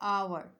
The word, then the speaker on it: hour: इसी तरह consonant letter है, एक वर्ड है आवर, यानी कि HOUR, स्टार्ट तो वो एच से हो रहा है और एच कॉन्सोनेंट साउंड है, लेकिन यहाँ पर एच जो है वो साइलेंट है, यानी कॉन्सोनेंट लेटर जो है वो साइलेंट है, तो यहाँ पर वोवेल का साउंड आ रहा है तो यहाँ पर हम यूज़ करेंगे एन, एन आवर।